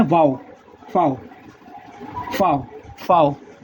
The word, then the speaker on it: Vau: वी को इसमें लिखते हैं वाओ, फाओ, फाओ, फाओ। वी को लिखते हैं फाओ, FOW। ये बोलने में फाओ है पर लिखने में आता है VAU, फाओ।